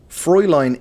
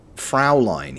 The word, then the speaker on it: Fräulein: Fräulein is how it's correctly pronounced. Ish. Okay. So he said it Fraulein. He said Fraulein.